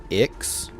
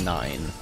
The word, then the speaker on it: IX: by a thermic weapon some people pronounce uh have been calling him X just because it's iix but I I'm pretty sure it's nine it it it makes